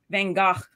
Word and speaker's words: Van Gogh: Van Gogh.